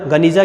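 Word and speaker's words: गेनिज़ा: एक सीलबंद कमरे में गनीजा, जिसका उच्चारण गनीजा के रूप में भी किया जाता है, कि मध्यकाल में यहूदी दस्तावेजों का एक विशाल संग्रह मिला।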